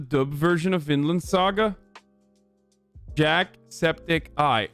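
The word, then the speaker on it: Jacksepticeye: version of Finland Saga Jack Septic Eye okay that's right I've been saying it right then Jack spedici okay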